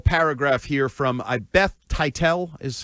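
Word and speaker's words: Teitell: a quick little paragraph here from I Beth Titel is how I'm pronouncing it. T E I T E L L. You got it. You spelled it out. Title.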